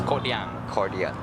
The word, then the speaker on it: Kodiang: It says Kodiang, Denny, but the correct way of pronunciation is Kodiang. Kodiang. There's like a K in front of that O. So Kodiang.